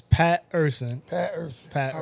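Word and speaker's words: Pat' Er Son: Yeah, so it's Pat Urson.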